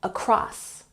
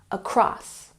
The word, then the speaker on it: across: and don't forget we have the emphasis on the second syllable across across number four we have